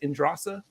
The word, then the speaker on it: Indrasa: WTF is Love featuring indrasa or is that how you pronounce it indrasa yes sir yes sir yeah I'm